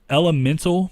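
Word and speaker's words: Element4l: Moving on to PS Vita, there's Elemental, but it's spelled Element 4L. I'm not sure what that is.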